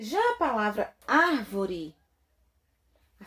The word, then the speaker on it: árvore: tônica está na última sílaba e já palavra árvore em sílaba tônica estaol uma duas três na terceira